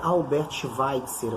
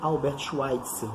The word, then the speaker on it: Albert Schweitzer: Rio também, que é Albert Schweitzer, ou Albert Schweitzer, dependendo da pronúncia.